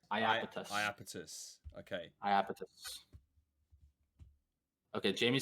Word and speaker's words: Iapetus: Oh, well, it's pronounced Iapetus. Iapetus.